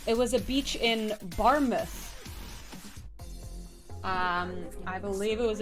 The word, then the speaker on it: Barmouth: was a beach in barmouth um I believe it was a beach in a place called barmouth uh you know bar mous but barmouth um but then the